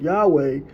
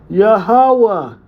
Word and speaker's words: Yahawah: Over time, pronunciation shorten or change into forms like Yahweh, but strictly in paleo Hebrew, it would sound closer to Yahawah.